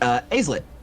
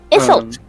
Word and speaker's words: Isolt: It's actually, Aislet. Am I pronouncing that right? Your new Leonin friend? Isolt. Isolt. Sorry, QD.